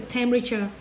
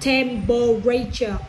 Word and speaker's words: temperature: And how the sky and what's the temperature? The sky is blue, clear and bright. Yes. The temperature. Yes, temperature. Only 3 syllables. Not temperature. Wrong. Temperature. Only 3.